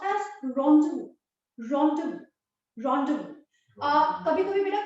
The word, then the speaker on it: rendezvous: The 9th word, it's pronounced as rendezvous.